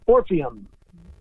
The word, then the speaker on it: Orpheum: I want to make sure I pronounce it right. Orpheum.